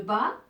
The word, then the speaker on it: bas: Alors, ici, le bas, il y a S à la fin, mais qui ne se prononce pas.